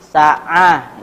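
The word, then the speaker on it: ساعة: Sa'ah. Ini ya. Huwa. Oh ya. Kira'atu fil asal sa'ah. Dia asalnya kira'ahnya bacanya sa'ah. Pakai huruf H ya.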